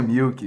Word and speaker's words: Mielk: Você pronuncia Milk. Mielk. Meus amigos vão rir disso, mas tá bom. É Milk. É Milk. É Milk. Se pronuncia Milk, mas se escreve Mielk.